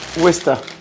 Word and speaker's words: Worcester: West sauce Wester. OK. Ça s'écrit quand même worcester et il faut le dire wester.